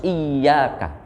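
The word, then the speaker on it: إِيَّاكَ: Satu contoh dalam ayat ini, membacanya itu harus iyaka. Iyaknya ditasdid.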